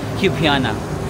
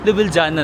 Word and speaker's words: Ljubljana: Pwedeng Ljubljana na lang. Kasi awkward ako na hindi ko pinapronounce yung letter L. No? Parang mas gusto ko yung Ljubljana.